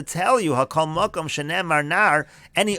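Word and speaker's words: נערה: you hakol makom shenemar nar. Any other place where it's written as nar, again it's pronounced nara, afilu katana b'mashma.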